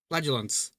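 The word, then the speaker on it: flagellants: Um, flagulants.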